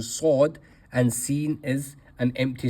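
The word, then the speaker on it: ص: Moving on to the next letter we have sod. Sod again is a fullmouth letter. Sod should be pronounced here.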